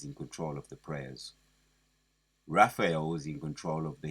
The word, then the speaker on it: Raphael: Gabriel you got Gabriel Raphael let me say it right it's Raphael he's in control of